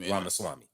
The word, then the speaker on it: Ramaswamy: He with Elon Vivek, I can't pronounce that man last name. Ramaswamy.